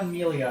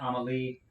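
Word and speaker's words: Amélie: last name right um but it's not Emilia it's on them like omelette Amalie um uh and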